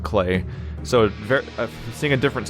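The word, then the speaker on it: Klei: I think it's Clay. Yeah, actually I think their website says to pronounce it like Clay.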